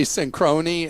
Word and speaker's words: Synchrony: big fan of the show, but when Clark mispronounced Synchrony Bank so badly, he caused me to spit Arizona iced tea all over the dash. I always say synchrony, and it's synchrony.